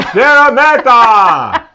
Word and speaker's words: Szeremeta: We heard the fight announcer. So that's how we say it. Kamil Szeremeta! We just assumed that's exactly how you say it. That must be the Polish accent.